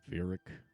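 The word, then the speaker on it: Virek: It's Veric. Veric. Sorry. Sorry. Normally the way I would spell it, but sure.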